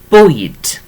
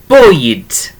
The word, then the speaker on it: bwyd: So that is bwyd.